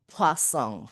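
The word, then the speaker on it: Poisson: Oh ya, walaupun namanya distribusi poison, tetapi dibacanya itu pasong karena penemunya itu dari Prancis kalau enggak salah.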